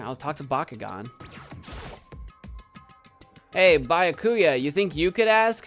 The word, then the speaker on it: Byakuya: It's Byakuya.